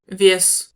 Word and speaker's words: вес: et l'autre dite mouillée, molle ou palatalisée, c'est-à-dire prononcée avec la langue qui touche un peu plus le palais. Comparez les mots suivants. вес, Pois, весь, tout, лук, oignon, люк, trappe, мат,